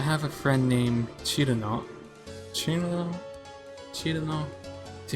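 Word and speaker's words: Cirno: Chirino? See, how do you guys pronounce her name? You say Chirino? Chirino? I just try to go with the Japanese pronunciation, but originally, for some reason, I actually pronounce it with a K.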